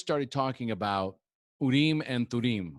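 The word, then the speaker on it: Thummim: We just started talking about Urim and Thurim, which I pronounced wrong when we were talking. I pronounced it Urim and Surim. But Urim and Thurim are fortune-telling stones that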